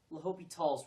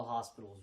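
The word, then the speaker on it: L'Hôpital: method and by the way rule 107 it's pronounced lopi talls rule not the hospital's rule rule 69 try to come up with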